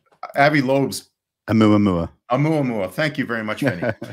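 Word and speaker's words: ʻOumuamua: And I can't pronounce it, but I think it's Avi Loeb's. Oumuamua. Oumuamua.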